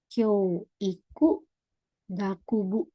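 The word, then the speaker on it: 教育学部: Ini Kyoiku Gakubu. Ini bacanya Kyo Gakubu.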